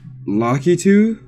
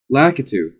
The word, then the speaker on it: Lakitu: and other familiar folks lucky too that's how you pronounce it lucky too I thought I always call them look lakitude I guess I was wrong those are also here